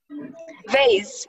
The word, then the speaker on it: vase: Vase or vase. The vase, yes. A vase or a vase. Both are correct pronunciations.